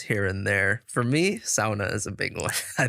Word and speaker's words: sauna: tuning in now but they pronounce it sauna there which is just butchering it so I hope everyone now knows you should pronounce it sauna but uh yeah he's